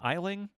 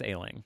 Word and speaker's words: Aisling: Aisling? Aisling? There's a way to say it that isn't like it's spelled, but I wouldn't dare to say. I think it's Ailing. Yeah. But I'm not sure.